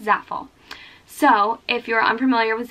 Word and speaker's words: Zaful: I think it's Zaful. So I'm going to attempt to say Zaful for the rest of the time I talk about this website. But if I'm saying it wrong, someone correct me, but I'm pretty sure it's Zaful.